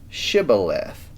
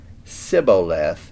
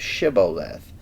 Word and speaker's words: shibboleth: question hmm please say shibboleth now the hebrew word shiboleth has no clear meaning really but in the ephramite dialect it was apparently pronounced siboleth instead of shibboleth so that's how they